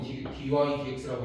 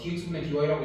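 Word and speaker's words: dy/dx: dx분의 dy처럼 보이지만 사실 읽는 거는 보통은 dy dx라고 읽어. 그러니까 dx분의 dy라고 읽어도 상관은 없어. 근데 일반적으로 dx분의 dy랑 구별하기 위해서 얘를 dy dx 이렇게 읽어.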